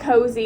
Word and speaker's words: Koze: she took the name literally the name it's cozy and it's not even the way that cozy is spelled by the way is k-o-z-e and then